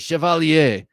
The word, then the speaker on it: Chevalier: Kevin Moore says, Chevalier. You have to use the French pronunciation.